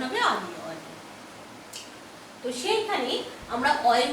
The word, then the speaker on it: অতি: কিন্তু অনেক সময় দেখা যায় অয়ের উচ্চারণ কিছুটা বিকৃত হয়, অনেকটা ওয়ের মতন উচ্চারণ হয়। তোমাদের বইয়ে 2টো উদাহরণ দেওয়া আছে, অতি, অপু।